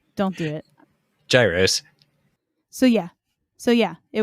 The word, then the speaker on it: gyros: viewers by saying it wrong don't do it Gyros so yeah so yeah it would have been